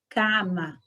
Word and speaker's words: cama: palavra cama também existe na língua espanhola e Vejam Só a diferença da pronúncia calma cama sempre aberta Então o a pode